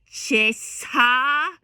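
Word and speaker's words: cessa: Cesa, double S, cesa crudel, tanto rigor.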